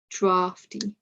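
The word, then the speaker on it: draughty: Another exception is drafty, that R and then F, drafty.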